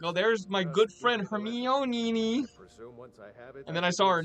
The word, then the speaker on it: Hermione: The Harry Potter movies are, like, so ubiquitous now that, like, everyone knows how to pronounce Hermione's name. Oh, you mean Heroine?